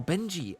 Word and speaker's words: Benji: He wants us to call him Benji. That's what it's supposed to be pronounced as. Oh, Benji.